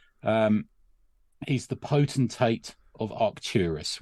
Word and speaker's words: Arcturus: he's the potentate of Arcturus which is proper hard C find in it you